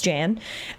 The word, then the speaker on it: Jan: So, it's technically Yawn, but in our life it's Jan.